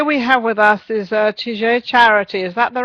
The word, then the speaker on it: Tige: It's actually Tige. Oh, Tige. Oh, Tige. Okay, Tige. Yeah. You see, there you go. I just got to put that little French accent on there.